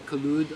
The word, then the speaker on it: Kaloud: you use with the collude uh the Lotus collude or Lotus Cloud however you want to pronounce it is in fact a